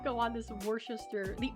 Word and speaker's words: Worcester: Worcester. 2 syllables.